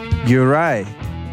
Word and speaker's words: Juraj: Juraj, welcome to the show.